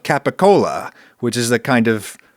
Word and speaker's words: capicola: Cole and pursuit yeah gabagool is capical gabapool is the like American American Italian famous weird pronunciation of capicola which is a kind